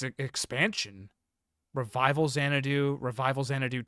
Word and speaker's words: Xanadu: Uh, now I got to look at the Zenatu series. Xanadu. It's pronounced Xanadoo.